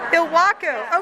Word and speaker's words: Ilwaco: Fiber Arts from, how do you say it, Ilwaco? Ilwaco.